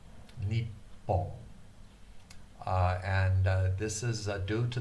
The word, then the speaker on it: Nippon: Nippon, N-I-P-P-O-N. The 2 P's mean that you need to pronounce both of the P's.